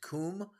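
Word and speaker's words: Cwm: Next, they got to go through the glacial valley known as the Western Kum, right? It's actually spelled C-W-M, but it's pronounced Kum.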